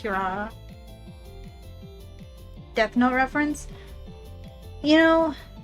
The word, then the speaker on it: Kirara: That's actually pronounced Kirara.